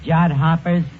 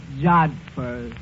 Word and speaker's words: jodhpurs: Absolutely beautiful, Eddie, in her riding pants and her jod hoppers. Yeah, it was love at first sight. That word is pronounced jodhpurs.